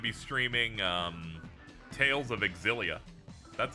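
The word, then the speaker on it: Xillia: Tomorrow, I'm going to be streaming um Tales of Axilia. That's how you pronounce that, by the way.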